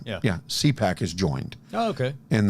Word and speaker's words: CPAC: CPAC? Did I say it right? Yeah. Yeah. CPAC has joined.